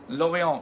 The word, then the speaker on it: Lorient: for the evil you Louie on with the T on the end so it looks like Lorient but it's pronounced it all we want